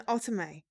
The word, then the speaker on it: Otome: We are playing Seduce Me, the Otome, which Jessie informed me is the correct way to pronounce this.